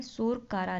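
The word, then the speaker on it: Tso Kar: सोरकारा lake. इसको टी नहीं पड़ेगा, टी साइलेंट रहता है।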